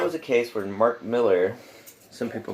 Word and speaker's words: Millar: thunderbolts and that was a case where Mark Miller some people pronounce it Millar but I've heard it to actually pronounce Miller's